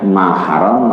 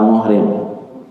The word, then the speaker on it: mahram: Berarti dibacanya mahram atau muhrim? Mahram bukan mu.